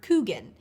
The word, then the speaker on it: Kuchen: In North Dakota, however, people generally pronounce the word Kuchen and use it to refer to a specific